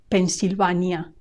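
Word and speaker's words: Pensilvania: oron oron Pennsyvania Pennsyvania remember that the Spanish a always has the sound a a Pennsyvania make sure you don't say a like in English but a Pennsyvania Pennsyvania the next three states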